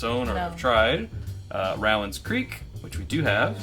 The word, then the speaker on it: Rowan: Speaking of that, it is pronounced, if you're in Kentucky, Rowan, not Roman.